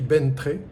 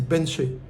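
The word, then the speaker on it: Bến Tre: vais d'abord aller à alors ça s'écrit Bentré. Quand j'ai dit ça, personne ne me comprenait, ça se dit, en fait, ça se dit Benché. Le TR, ça fait che.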